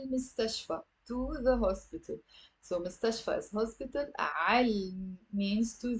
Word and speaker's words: مستشفى: Okay, it's three syllables. Most of my students have a difficulty pronouncing this word. Say it with me. مستشفى. مستشفى.